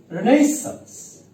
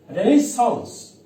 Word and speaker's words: Renaissance: However, there are three types of pronunciation of Renaissance. First, English pronunciation, Renaissance. Then American pronunciation, Renaissance. And lastly, the French pronunciation is Renaissance.